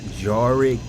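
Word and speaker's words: Jarrick: So my name is Jarick. J A R R. Yeah. So it almost sounds like Jar like a big old jar and like Rick, you know.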